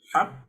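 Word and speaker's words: حق: Ulang kembali. Haqq. Disukunkan dulu baru dipantulkan.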